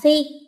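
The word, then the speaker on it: 誌: Phần đọc cũng dễ luôn vì chỉ có một cách đọc theo âm ôn thôi, đó là si trong giá si tạp chí.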